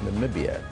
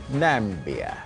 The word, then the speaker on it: Namibia: However, with almost 28,000 tweets, people are having some fun with the way that Trump mispronounced Namibia, instead calling our neighbor Nambia.